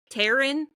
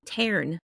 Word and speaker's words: Tarn: So I named him Tarn, and everyone was like, Taryn? And I was like, no, Tarn. Just Tarn.